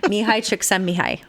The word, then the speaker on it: Csikszentmihalyi: Okay, so what we're talking about is a book called Flow by Mihai Csikszentmihalyi. Thank you. I can't do that, and I seriously can't actually pronounce his name.